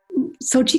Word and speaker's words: Xochitl: Xochitl. The easiest way to pronounce, to remember how to pronounce it, is to think of the Olympics in Russia.